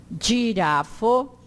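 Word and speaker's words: ĝirafo: O G com acento seria jo. É sempre pronunciado como DJ do inglês, do general. Então, giardino, girafo, patio.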